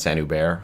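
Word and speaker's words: Saint-Hubert: It's pronounced Saint Hubert, but it's like no, I don't these are know basically this.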